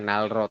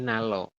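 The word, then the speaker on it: 난로: itu nya adalah nanro berarti dibacanya gimana nalro Nal Nalo Iya Nalo ya bukan nalro tapi Nalo seperti itu Oke sampai sini bisa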